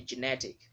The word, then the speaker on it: genetic: Genetic, not genetic. When you say genetic, you've put the stress mark on the first syllable GE, and that's why you're saying genetic, and it's a wrong way to pronounce the word. It should be genetic. Say schwa sound, you should not put emphasis on it. You should just glide over it.